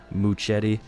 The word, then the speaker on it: Muchetti: Muchetti. You have to say it like that too. You almost have to say Mu muche almost. You gota say you gota say it with that little hint of like Spanish to it somewhat.